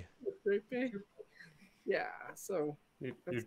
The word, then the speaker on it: Euterpe: Euterpe.